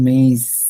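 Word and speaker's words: maïs: পরের েমার পরে যে কনসোনেন্ট থাকে ওইটাকে আপনার উচ্চারণ করতেই হবে এটা ছিল মেয়ে এটা কিন্তু মেইজ মেইজ কর্ণ এজন্য কি আমি মোটামুটি বুঝাতে পারছি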